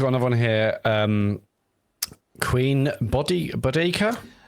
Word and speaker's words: Boudica: Queen Bodica? How do you pronounce this? So this is something which annoys me, right? Oh, because it's supposed like everyone now seems to call it Boudica.